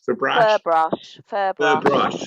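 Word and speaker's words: Ferbrache: Furbrache. Oh, you say brush.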